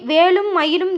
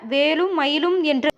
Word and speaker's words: வேலும் மயிலும்: மயிலும் என்கின்ற திருமந்திரத்தை உச்சரியுங்க இந்த மந்திரத்தை வேலும் மயிலும் என்று உச்சரிக்காமல் ஆறு எழுத்தாக வேலும் மயிலும் என்று உச்சரிக்கணும் வேலும் மயிலும் துணை என்று